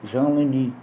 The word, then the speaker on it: Jean Leunes: Eh, o padre eh, belga Jean Leni, né, se escreve Jean Leunes, né, mas é belga, é francês, é Jean Leni.